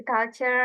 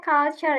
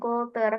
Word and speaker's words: culture: Oke, buat yang ini nih dibacanya culture ya, Bro, bukan kultur. Kalau kultur itu bahasa Indonesia.